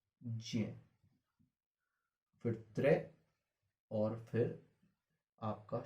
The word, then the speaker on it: ज्ञ: आधा ज और पूरा ज्ञा से मिलाकर ये, इसे ज्या बोलते हैं।